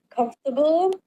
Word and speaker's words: comfortable: pronounce every syllable clearly, but in English there are a lot of words with like weak, unstressed syllables. For example, comfortable is hard because I tend to pronounce every syllable equally, which doesn't match the way native speakers say it.